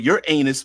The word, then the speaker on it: Uranus: solar system right um Uranus is right down here no I'm I refuse to pronounce it the dirty way um yeah but your anus might be okay maybe